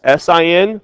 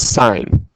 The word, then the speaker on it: sine: because they're abbreviated as SI n for sine cos for cosine and ta n for tangent but we don't pronounce it as sin we pronounce it as sine okay so sine cosine